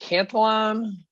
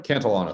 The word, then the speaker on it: Cantillon: gold ran out, and the how do you pronounce it? Cantillon effect? I never know how to. Cantillon effect.